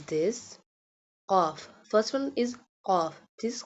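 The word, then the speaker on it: ق: First one is qaf. This qaf pronounced boldly. Qaf pronounced from the root of the tongue touching the soft part of the palate.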